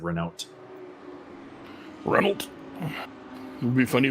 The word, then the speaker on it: Renault: Sir, I believe that's pronounced Renault. Renault, sir.